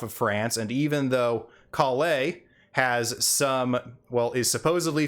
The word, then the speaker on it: Collei: to be pronounced lastly our second new dendro character kalei is oftentimes mispronounced cauli mostly by one of